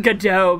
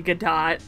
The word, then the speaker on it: Godot: earthquake came but probably i've always pronounced it godot but maybe it is actually gadot like wait i thought gal gadot's name was gal gadot so did i because so i pronounce it get dough because of the play waiting for godot yeah i'm pretty sure